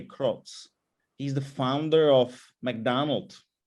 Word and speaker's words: Kroc: people like ray kroc ray kroc we would pronounce it actually ray krocz he's the founder of